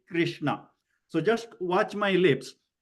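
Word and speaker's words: Kṛṣṇa: So when you say Krishna, your lips gets widened. When is Krishna, which is Krishna. the vowel R, then your lips will be neutral. It is not widened.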